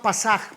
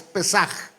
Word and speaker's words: Pesaj: Hay gente que le llama Pasaj, pero no es Pasaj, es Pesaj.